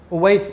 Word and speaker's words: Owais: جی ओवैस, English में इसकी spelling बनेगी OWAIS।